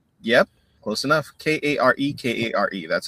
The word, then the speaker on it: kare-kare: I'm I'm very proud of my It's called kare-kare. That's That's the name of the dish in the Philippines. It's a peanut curry stew. Mhm. So, with with Say the name again. Kare-kare?